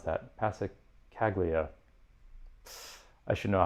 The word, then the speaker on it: Passacaglia: in something akin to a how do you pronounce that? Passacaglia.